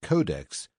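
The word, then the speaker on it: codex: It is pronounced codeex and its plural is codices.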